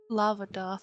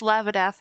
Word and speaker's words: Lavath: Lava doth. No, it's Lavath now.